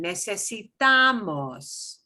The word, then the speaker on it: necesitamos: Ooh, now we're going to shift it because second to last is this one. Necesitamos.